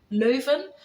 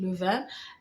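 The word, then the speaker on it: Leiden: because he was um living in Lan um Len for the Dutch people but um I pronounced it Lan and um and he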